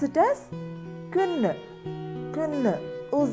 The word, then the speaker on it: kvinde: So put it all together and pronounce it as kvinde.